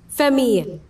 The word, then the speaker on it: famille: Famille.